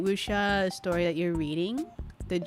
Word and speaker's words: wuxia: Is it one of those Chinese, how are they called, wuxia stories? Yeah. It's basically a wuxia story. Yeah. Wuxia is spelled like W-U-X-I-A.